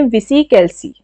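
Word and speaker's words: VisiCalc: इसको अब प्रोनाउंसिएशन में कुछ उल्टा सीधा हो सकता है। आप देख लेना। इसे बोलते हैं विसी कैलसी।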